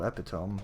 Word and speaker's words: epitome: Well, you know, if you never heard it said before, then it's spelled like tome and epi, so epitome, you know?